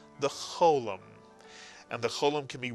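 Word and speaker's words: חולם: Both are pronounced O, cholam, and in Israel, the cholam tends to be pronounced more as an O than an O, but for our purposes, either one is acceptable.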